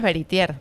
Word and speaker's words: Veritier: En argentino es Veritier con la aire al final.